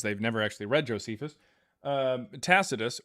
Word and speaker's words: Tacitus: Tacitus or Tacticus because people have never actually read Tacitus.